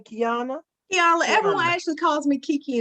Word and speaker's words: Keyannla: Keyannla, everyone actually calls me Kiki in the community.